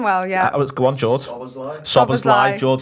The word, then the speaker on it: Szoboszlai: Szoboszlai, brilliant stuff. We have him there for pronunciations and camera work.